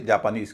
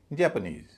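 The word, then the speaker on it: Japanese: जे ए पी ए एन एस सबके अंत में एन एस है। स्ट्रेस उस पर होगा। बोला जाएगा इज लेकिन स्ट्रेस के कारण उससे पहले वाला सिलेबल हल्का हो जाएगा। बोला जाएगा अ और उससे पहले वाला जो ए है वह हो जाएगा भारी। ऐ पूरे शब्द का उच्चारण होगा जै नीज। जापानीज ना कि जापानीज।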